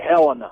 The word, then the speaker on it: Helena: Let's go to Randy and Helena. Is it Helena Montana or Helena Montana? How do you say that? We say Helena.